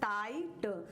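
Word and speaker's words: tight: का साउंड पढ़ेंगे जैसे टाइट टाइट जी एच का कहीं भी साउंड इसमें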